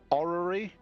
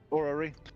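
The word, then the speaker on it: orrery: can't pronounce this so let me see if it's a orary o r r e r y or yeah orary so as you're looking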